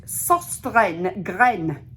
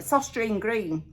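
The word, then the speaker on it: Søstrene Grene: It's Danish and it's pronounced Susten Gren.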